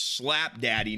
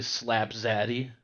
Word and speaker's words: Slap Zaddy: Okay, we got D-Flan versus Slap Daddy, number 5. It's actually Slap Zaddy. Say it right.